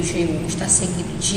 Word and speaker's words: seguido: No caso do seguido, a mesma coisa, né? O U não existe, a gente não fala seguido, a gente fala seguido, né? É como se o U não existisse.